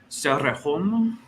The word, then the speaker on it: Cerrejón: I mean, I believe it's Cerrejón. With a rolled R, so Cerrejón.